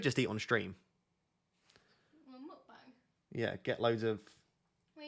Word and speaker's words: mukbang: Well, mukbang.